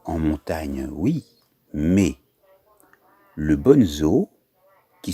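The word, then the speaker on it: Bonnezeaux: Oui, mais le Bonzo, qui s'écrit B-O-2-N-E-Z-E-A-U-X, est un vin blanc liquoreux de la Loire.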